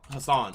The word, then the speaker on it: Hasan: Hasan.